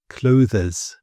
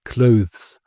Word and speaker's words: clothes: This one is something I hear very often and there's a temptation that people like to say clo but it it's not it's clothes.